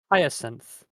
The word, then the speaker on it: Hyacinth: Hyacinth.